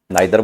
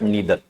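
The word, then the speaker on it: neither: नाइदर बोलते हैं, नाइदर सुना का, बट नीदर, नीदर नोर इधर और। ठीक है। आइदर जैसे आइदर और बोल देते थे, नाइदर नोर बोल देते थे, but actual pronunciation is नीदर, नीदर नोर और इधर और।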